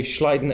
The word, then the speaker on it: Schleiden: go on in 1839 German biologist Matias J schleiden no that's pronounced correctly good thank you Matias J schleiden and Theodore schan proposed a new Theory based